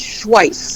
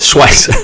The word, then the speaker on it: Schweihs: Am I pronouncing that, Chris? No, it's Schweihs. Schweihs.